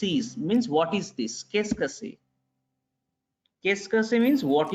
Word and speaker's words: qu'est-ce que c'est: Actually, up to this is qu'est. Okay? Then this CE part is not pronounced. CE part is not pronounced. So qu'est-ce que, this part is que, and this part is say, S-A-Y, say.